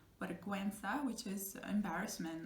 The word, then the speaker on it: vergüenza: you're never gonna say vergüenza in this case because you have the two little dots over the U, which indicate you have to pronounce that sound, and it sounds like vergüenza, which is embarrassment, like how embarrassing this is.